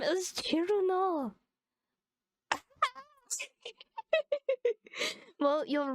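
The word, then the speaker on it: Cirno: That's so sorry, I don't mean to be so rude, but her name is Chiruno. Okay? Chiruno.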